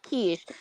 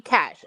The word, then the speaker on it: Kesh: technically her name is pronounced Quiche, but she's like, you can call me Cash. So you could call her Yeah, Quiche 'cause or Cash, and she's fine with it. it's But it's spelled actually Kesh like Kesh, but it's pronounced Quiche.